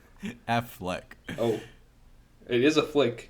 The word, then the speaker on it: Affleck: coming out you just you call him afflac every time isn't it afflac Affleck oh it is a